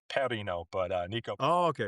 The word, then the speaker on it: Perino: It does it does it sound like one of my favorite beers out there? Is it? Yeah. Peroni. I love Peronis. Uh yeah, I think the Italians would pronounce my last name. Perino, but uh Nico.